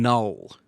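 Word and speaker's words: Knull: Null. Yeah. Null, spelled with a K, voiced by Andy Serkis, who directed the Oh, last one.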